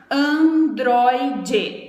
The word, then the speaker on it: androide: Por exemplo, androide, androide. A gente tem 3 sílabas, certo? Androide. O acento é na penúltima, é no droide, androide.